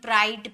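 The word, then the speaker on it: bride: मिला यानी कि इसे ब्राइड पढ़ेंगे ब्राइड लास्ट में ई का साउंड नहीं निकलता है बी आर आई डी ही ब्राइड हो गया लेकिन लास्ट में हम इ लगाते हैं।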